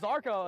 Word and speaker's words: Zarko: There is no I in team, but there is in Ziarko and Zarko as well. Now, if you're Polish, it's Jarko.